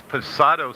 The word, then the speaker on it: Posado: Yeah, it's Posado Safe Haven.